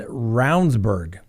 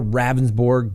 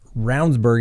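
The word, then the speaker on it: Ravnsborg: create some reasonable doubt jason roundsburg that's the way he pronounces it looks like more ravensborg but roundsburg is the way he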